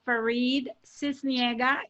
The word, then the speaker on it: Faride Sisniega: You know, again, my name, the way you pronounce it is Faride Sisniega. If you speak Espanol, it's Faride.